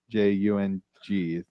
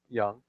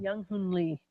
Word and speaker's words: Young Hoon Lee: But what's interesting is one guy, Yang Hun, Jung is how you say his first name. Young. Yeah, Yang Hun. Young Hoon Lee.